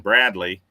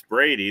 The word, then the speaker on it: Brady: I kept saying Bradley, and I got a message from somebody that said it's Brady. There's no L in it.